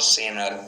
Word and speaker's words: center: so many center, basically in American it is called center, T is silent, right?